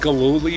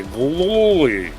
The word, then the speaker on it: Gillooly: We got to learn who Jeff Gillooly was. Gillooly. The best part of Tanya Harding's husband's name being Gillooly was watching Tom Brokaw on the NBC News trying to say Gillooly.